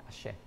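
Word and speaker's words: axé: A-X-E with a line on it. Yeah, ashe. A-X-E? Yeah, that's not, but that's why you have the line above the E.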